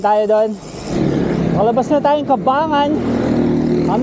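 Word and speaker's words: Cabangan: Kuya Mar o na bayan ng kabangan ah kabagan kabangan o Yun pala yung pronounciation 52 km first checkpoint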